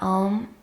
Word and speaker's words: AUM: So in this first video of the series, we'll be looking at the mantra AUM. So this mantra is usually written out with the letters OM. And it's often pronounced in that way as well, Om.